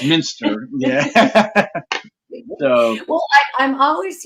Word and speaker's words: Westminster: for the longest time that's how I was pronouncing it Westminster but it's Minster yeah so well I'm always you know like